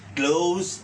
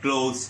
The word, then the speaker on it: cloze: 6 নাম্বারেও কিন্তু একটা ক্লু দেওয়া থাকবে, ক্লোজ টেস্ট উইথ ক্লুজ, এই প্রশ্নটার নাম।